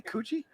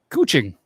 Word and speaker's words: Kuching: Did you say Coochie? Kuching.